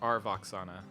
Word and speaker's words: Aurelian Voxana: party, now approached by King Aurelian Voxana, pronounced R. Voxana, standing in the room before you.